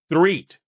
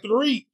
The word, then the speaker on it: Threatt: I didn't have to say it like that, Threatt. But like I told him when we first got here, I was like, it's Threatt, right? He was like, no, it's Threatt.